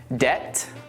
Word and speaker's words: debt: Let's now look at 3 more common words with a silent B. Det, doubt, and subtle. Now that you know that we don't pronounce the B in these words, try reading this sentence out loud.